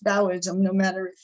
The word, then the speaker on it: Taoism: you might see it with a t it's pronounced bowism no matter if it's spelled with a deiority